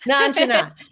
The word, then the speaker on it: Nanchanett: Nanchanett. Is that the right way to say it? Nanchanett, you were close. Nanchanett.